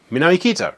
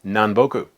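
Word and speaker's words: 南北: Put them together, what do you got? Minami kita, right? No, it's nanboku.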